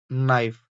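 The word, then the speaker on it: knife: Underline the silent letter नाइफ नाइफ में जो है के साइलेंट लेटर होता है और वॉकर वॉकर में एल साइलेंट लेटर होता है।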